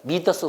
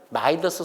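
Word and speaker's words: Midas: 이걸 미더스 손이라고 합니다. 미더스 손이 뭐죠? 옛날에는 마이더스 손이라고 그랬었어. 근데 요새는 마이더스 손이라고 안 불러. 미더스 손이라고 이렇게 발음하더라고.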